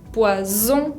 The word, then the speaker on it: poison: Poisson es un pez, poison con la Z significa veneno, entonces es muy distinto hablar de un pez o de veneno, ¿no?